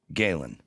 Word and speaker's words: Galen: Galen It's like Kalen.